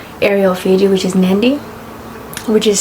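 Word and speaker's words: Nadi: to the main area of fij which is nandy which is spelled as n a DI I with a silent n i mean with a it's pronounced nandy but it's spelled without the end in the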